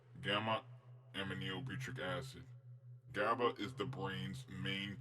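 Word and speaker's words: gamma-aminobutyric acid: So this is how you say it: gamma aminobutyric acid.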